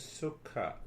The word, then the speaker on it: sukha: for the peace is sukha. The Sanskrit language is the language of self-discovery. So what is that sukha? You know, the 2 syllables, su-kha.